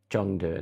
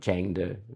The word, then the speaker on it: Chengdu: I was calling it um, as you can tell later in the video, I was calling it um, Chongdu, not Changu, even when I'm there cuz I'm an idiot.